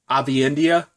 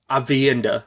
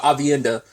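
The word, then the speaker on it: Aviendha: ends up finding a um IO named um Avi India avienda sorry I butchered a um but avienda which I was like do they don't know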